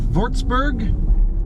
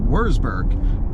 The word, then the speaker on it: Würzburg: And we're pulling out of Würzburg. I'm probably saying that wrong. To me, it looks like Würzburg, but W's are pronounced V's.